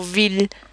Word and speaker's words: ville: There are a few exceptions, for example, ville and village. You can hear the L sounds in those words.